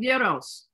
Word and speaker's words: gyro: And at the beginning, when we were introducing ourselves, everyone, I actually said I really love gyros.